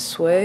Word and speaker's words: Sui: into the olympics is sui and han which i believe also the correct way to say the name is sway and han correct me